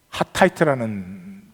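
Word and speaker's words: חטאת: 속죄의 용어는 하타이트라는 단어의 속죄제가 하타가 죄예요, 죄. 죄는데 틀을 붙이면 속죄제가 되는 거죠. 이는 묵음이 되었다가 나타나 하타이트 이렇게 나타나죠.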